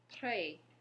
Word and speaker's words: très: So when you see an E with the accent grave, the sound that it's going to make is E, like in the word pet, E.